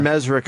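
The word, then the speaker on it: Mezrich: c h Ben mesri is it mes or mesich I say mezri okay I've been saying your name wrong I apologize it's okay my parents say mezri so you're probably right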